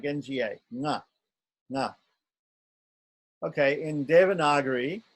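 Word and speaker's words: ङ: This N with a dot on top, which is pronounced like the N in king. The NG in king, or sing. Yes, the NG, it's like NGA, nga, nga.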